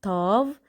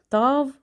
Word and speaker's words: Tav: So remember, this one is called Tav, pronunciation is T. Again, Tav for T.